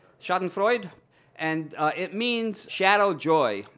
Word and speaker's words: Schadenfreude: I pronounce it that way because I need a mnemonic device to remember it, and so I think of Sigmund Freud with a lampshade stuck in his stomach.